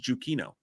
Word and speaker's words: Giacchino: And Giacchino is pronounced Giuchino.